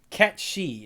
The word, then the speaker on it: Cait Sith: Uh, Cat She is how you pronounce it. Thank you, Google. But it's spelled Cait Sith.